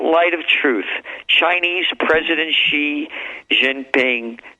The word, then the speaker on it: Xi: Xi, Xi, that's Xi is pronounced, Xi is pronounced Xi.